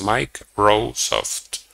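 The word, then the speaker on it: MikeRoweSoft: of the website was Mike rosoft so even though in writing it was completely different when you pronounce it it was sounding similar to Microsoft and they created a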